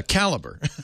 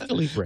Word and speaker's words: Calibre: Interesting pronunciation. Yeah, caliber. Oh, I thought it was Calibre. Well, it might be. It's probably a play on Libre or free.